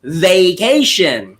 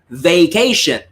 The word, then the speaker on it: vacation: or vacation it's pronounced vacation so your first two syllables just say the name of the letter and that's already the sound so it's vacation okay vacation so because